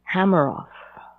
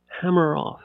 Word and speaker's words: Hameroff: Hameroff. Hameroff.